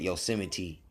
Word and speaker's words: Yosemite: saying it's but they make you say it Yosemite you know what I'm saying but if you